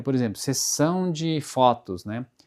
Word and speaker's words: sessão: Se, por exemplo, a letra S for no começo da palavra, ele vai ter o som de sassessosu. É, é, por exemplo, sessão de fotos, né?